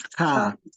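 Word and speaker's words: kaa: The way you pronounce car in English is the way you pronounce this one in Swahili. It's car.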